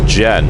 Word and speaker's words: Jehn: Most people pronounce it as Jen.